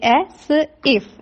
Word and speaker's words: Asif: The next word you will say as if. As if? No, it's asif.